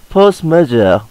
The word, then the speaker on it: force majeure: use international contract law, force majeure. A force majeure is a fancy word, means superior power. A French pronunciation is more like force majeure.